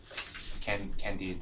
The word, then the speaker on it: Candide: Well, there's this Candide, that's how you pronounce it.